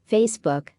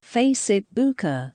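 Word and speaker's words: 非死不可: Facebook sounds exactly like Facebook in Chinese, which means bound to die.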